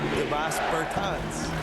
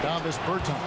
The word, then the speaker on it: Davis Bertans: Oh, well now, at this point in my life, it's Davis Bertans. Is that how you say his name? Davis Bertans.